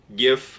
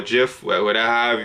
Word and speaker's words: GIF: with a Russell Westbrook gif or Jif people pronounce it of the wind russ